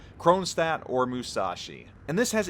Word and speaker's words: Kronshtadt: important question Kronstadt and yes I am NOT pronouncing it and it's complete Russian glory I am Americanizing the name for the ease of me getting it out of my mouth chrome stat or Musashi and this